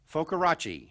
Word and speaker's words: Focarachi: We've got a guest here joining us from Atlanta, Georgia, is Focarachi. How is that? Is that pretty close? That was perfectly pronounced.